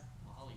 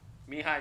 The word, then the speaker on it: Mihaly: Mahali Csikszentmihalyi? Mihai Csikszentmihalyi. The L is silent.